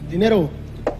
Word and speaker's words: cantinero: With our pronunciation here, we want to go higher with the intonation on cantinero, cantinero, cantinero, una cerveza.